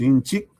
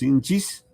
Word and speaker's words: nchik: Inchik, leemos inchik, o leemos inchis, o leemos inche, o leemos insi. Cualquiera, pero todos escribimos de esta manera, ¿correcto? Todos escribimos de esta manera, ¿ya? Entonces, todas estas formas anteriores de pronunciación son válidas.